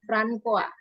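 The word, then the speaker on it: François: yang benar ini adalah bacanya francoa ini nama Prancis ya ya kemudian di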